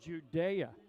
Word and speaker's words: Judah: His name is spelled Judah. It is pronounced Judea, and we got that from the parents early in this season.